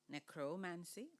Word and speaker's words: necromancy: Is there more than one way to pronounce necromancy? Necromancy. Can you read the meaning of necromancy?